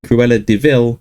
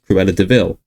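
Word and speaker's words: Cruella de Vil: and always has been allegedly Cruella div not Kella DeVille oh hey look it's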